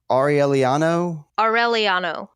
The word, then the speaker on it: Aureliano: I hate to keep going on this, but I'm just awful at pronunciation. Aureliano.